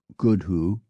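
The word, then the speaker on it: gwdihŵ: world thus for instance the Welsh word for owl GW D IW pronounced good who may mimic the sound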